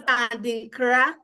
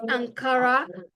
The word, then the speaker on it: Adinkra: I think it's Adinkra. The word Adinkra is actually, that was how Ankara came about. Because most people didn't pronounce it the way it was Adinkra, so they just called it Ankara.